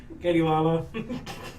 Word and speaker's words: Katie Lala: Yeah, Katie Lala. Katie spelled like Katie. Sure. Lala like lazy.